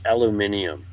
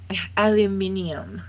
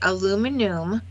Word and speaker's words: aluminium: reason it feels like we're all stupid it's pronounced aluminium aluminium aluminium huh it's like a like it's like aloe